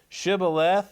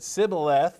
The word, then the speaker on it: Shibboleth: unto him, say now Shibboleth, and he said Sibboleth, for he could not frame to pronounce it right.